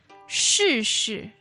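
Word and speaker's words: 试试: Now, to try, as in to make an attempt at something, is 试试试试, and that's 试试. fourth tone, right?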